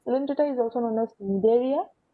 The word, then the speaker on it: Cnidaria: Then Coelenterata is also known as Cnidaria. C is silent, okay, Cnidaria.